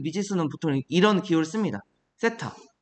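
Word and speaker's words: θ: 세타. 얘를 이렇게 쓰고 읽을 때 세타라고 읽으면 됩니다.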